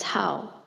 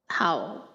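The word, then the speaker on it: 好: away from good food the character is pronounced as how how means like like food but stay away from them the character can also be pronounced as how and the dirt tone meaning good good food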